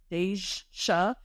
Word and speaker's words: Dajsha: Deja, I think it's Deja. It's spelled Dajsha, which to me gives Deja.